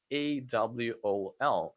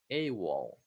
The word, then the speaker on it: AWOL: So AWOL is actually an acronym because you don't say AWOL, you say as a word. AWOL. AWOL.